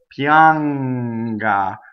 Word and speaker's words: pianga: So pianga. So the middle of the tongue. We don't make it at the end with the tip of our tongue. Pianga, because then we end up with the shadow vowel.